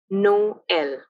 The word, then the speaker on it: Noël: Both O and E, or O and as we call it in French, have a separate pronunciation, Noël.